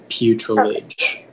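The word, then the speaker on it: putrilage: there any alternate pronunciations it's just the one putrelage can you use it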